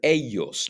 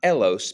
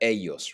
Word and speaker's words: ellos: Then to talk about other people and to say they, we use the word ellos, not elos, but ellos. Remember that the double L is pronounced like a Y.